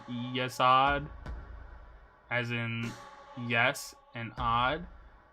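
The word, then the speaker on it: Yesod: Hot is just spelled like God but with an H. Saying this events and names are spelled yesad as in yes and odd as in god.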